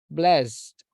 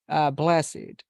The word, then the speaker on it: blessed: we have the following Ed words used as adjectives are pronounced with it agreed blessed crooked I'm sorry blessed crooked naked Wicked wrecked like this okay so